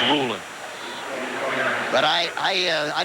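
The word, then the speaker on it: Rulon: Ruland Jones was the man applying the pressure. And Ruland Jones prefers his first name pronounced Ruland. Sometimes you hear it Rulan Jones, but he said it's Ruland.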